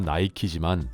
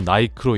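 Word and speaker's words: Nike: 나이키를 공식적으로 읽는 방법은 나이키지만 의외로 나이크로 읽는 사람들이 꽤 많다고 합니다. 대체로 유럽에서 나이크로 읽는 경향이 있고 특히 영국은 영어의 종주국이라는 자존심 때문인지 나이크로 읽는 사람들이 상당수이며 오히려 이에 의문을 표하면 바이크도 바이키라고 읽을 거냐고 반박한다고 합니다.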